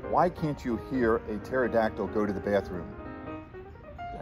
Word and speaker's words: pterodactyl: can't you hear a pterodactyl go to the bathroom i don't know because the pee is silent nice hey i could